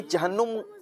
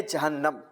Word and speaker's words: جہنم: سب سے پہلے تو ایک تلفظ بیان کیا گیا جہنم. جی تو یہ جہنم پروناؤنسیشن غلط ہے، صحیح تلفظ ہے جہنم.